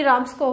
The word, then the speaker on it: Ramsco: इसकी प्रोनाउंसिएशन आपकी राम्सको होगी, ठीक है।